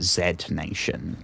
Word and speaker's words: Z Nation: I technically I should pronounce it Zed Nation, but ZN Nation.